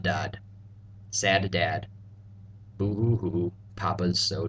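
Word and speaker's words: ض: letters we've learned before essentially these two letters are pronounced as S's and D's just as seen and dull were except these letters sound a bit dark darker or heavier the best way I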